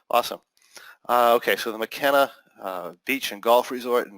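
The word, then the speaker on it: Makena: to pronounce that name, Makina Beach and Golf Resort in Maui. And time is running out. What's that? It's McKenna. McKenna. Okay, very good. Like Paul McKenna, the hypnotist. Awesome. Okay, so the McKenna Beach and Golf Resort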